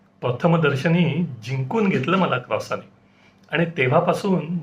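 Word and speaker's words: croissant: मुद्दामहूनच English मध्ये लिहिलय spelling जरी टी ने संपत असलं तरी त्याचा फ्रेंच उच्चार क्रॉस असाच अनुनासिकतेने संपणार फ्रेंच आणि मराठी या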